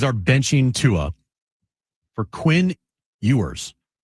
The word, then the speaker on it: Ewers: And it it was announced today the Dolphins are benching Tua for Quinn Ewers. Or Quinn Ewers, I don't even know how to say his name. You were right the first time.